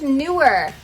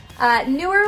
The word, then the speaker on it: Neewer: company and it's pronounced newer newer like more new is the way they told me to remember it and newer okay they write reviews